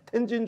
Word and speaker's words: 텐진: 청나라를 불러들이죠 일본은 천진조약 천진도 저기 워너 발음은 텐진조약입니다 연도 발음 좀 정확하게 텐진 조약으로 일본도 조선 땅으로 들어온